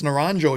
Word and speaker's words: Naranjo: actually asked him and it's naranjo you actually pronounce the j but i don't know